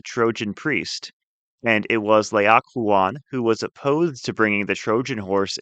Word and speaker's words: Laocoön: The actual text is making a perfect leak a fuan of himself which is a Greek character that is spelled l ao c o n but there